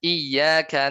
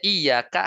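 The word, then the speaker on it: إِيَّاكَ: Atau misalnya iyyaka na'budu wa iyyaka nasta'in.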